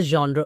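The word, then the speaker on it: genre: You like to सी जॉन्रा इज the perfect pronunciation to the world.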